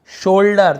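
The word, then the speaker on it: shoulder: ओ भी होता है जैसे बोल्डर शोल्डर तो ओ यू लिखा हुआ है लेकिन हम उसे ओ ओ पढ़ रहे हैं मोल्ड सोल्ड मोल्ड मोल्डर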